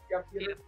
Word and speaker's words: Piotr: So the Join the Future trade paperback, it's you and Piotr, I hope I'm pronouncing that right, Kowalski. Peter.